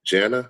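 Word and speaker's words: Jannah: meant to represent the garden of Janna, I believe it's pronounced.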